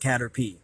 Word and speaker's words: Caterpie: like that kind of cool okay and it's pronounced Caterpie of course it is of the bug element